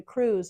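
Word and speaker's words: krewe: because the cruise if you're familiar with the cruise of New Orleans it's spelled KR e we it's actually a pretend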